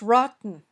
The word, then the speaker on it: rotten: The next word is rotten. Rotten. Which sound did you hear? That's right, it was the glottal stop. It's between a stressed vowel and the syllable un.